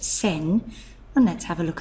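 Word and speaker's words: 千: the Ki for thousands it's pronounced sen and let's have a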